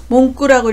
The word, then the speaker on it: 文句: 몽구라고 읽어서 문구나 불평을 나타냅니다.